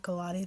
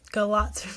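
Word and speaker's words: Galați: Not Galati, that's how it's spelled. Galatz, Romania.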